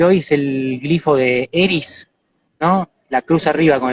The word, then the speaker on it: Eris: De hecho, es curioso porque Eris está en Aries y fue descubierta estando en Aries y además se pronuncia Eris, que es casi como Aries en inglés, ¿no?